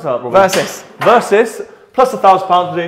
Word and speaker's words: Versys: How do you pronounce that, Robert? Versys.